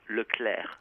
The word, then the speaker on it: Leclercq: and by the way it has to be pronounced look Claire and not the diane little layer yeah right yeah exactly like Heather Locklear okay I'm gonna yeah